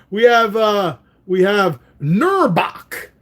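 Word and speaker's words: Knurrbauch: have uh we have nurok that's a silent k kerbach k n r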